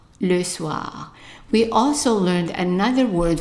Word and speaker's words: soir: Now the next word is the evening, and the evening we have an OI here that is pronounced as an wa, right? So how would you pronounce the word here? Right, le soir, le soir.